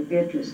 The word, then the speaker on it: Beatrice: Because one day Mother said to me, and Mother just called me Beatrice, and that's really what it's supposed to be pronounced.